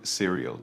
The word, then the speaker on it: cereal: The pronunciation of cereal is exactly the same as the word cereal in serial number.